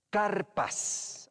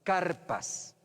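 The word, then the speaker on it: karpas: Luego, carpas, así se pronuncia esa palabrita, carpas, que eran verduras, ¿ya?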